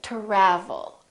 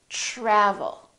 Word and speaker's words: travel: say try try so the t r together make this sound almost like a c-h-r almost like but it's a softer one it's to try try so let's look at some words that are spelled with tr try travel we don't say travel or travel we say travel tradition tradition let's try